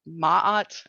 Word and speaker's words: Ma'at: another ancient Egyptian goddess called Ma'at, I think it's pronounced.